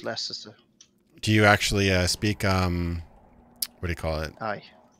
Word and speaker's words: Leicester: Yeah, You- it's Leicester.